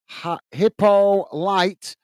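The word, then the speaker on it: Hippolyte: It's pronounced hippo light. Hippo like the animal.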